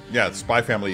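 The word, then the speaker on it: SPY×FAMILY: Spy Family is, spelled out Spy X Family, but the X is silent.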